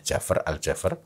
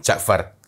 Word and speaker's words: Jafra: Itu adalah sebuah Kampung namanya Jafra aljafer ya bukan Ja'far karena Jafar karena sebagian sebagian mengira bahwa Oh mungkin pengucapannya kurang memang kalau di Thaif